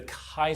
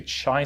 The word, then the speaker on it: chi: the chi squared look a lot people say chai squared but it's actually kinda draw it right here and so let's write it first it's spelled CH I button or it's not chai its Chi square so Chi square test